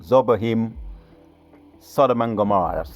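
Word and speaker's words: Zeboiim: Those other cities, let me go again for pronunciations. Admah, Zebohim, and Zohar, Bela. Zohar, Bela, that's 1 city. Zohar, Bela is 1 city. Admah, Zebohim, Sodom and Gomorrah, that's 5 altogether.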